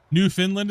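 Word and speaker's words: Newfoundland: New Finland is how it's pronounced.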